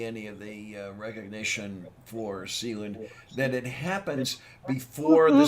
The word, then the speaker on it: Sealand: of the recognition for sealand then it happens before the support stop stop stop i asked them it is not sealant it is literally sea land i'm fine uh i